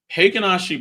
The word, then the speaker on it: Heikin-Ashi: Okay, so Heikin-Ashi bars, that's how someone who was Japanese told me that's how you pronounce it.